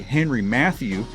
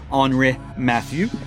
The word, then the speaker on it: Henri Mathieu: I believe the gentleman's name is Henry, though it looks French because it's spelled with an I. So I think it's Henri Mathieu. Or if you're an American, it may be Henry Matthew.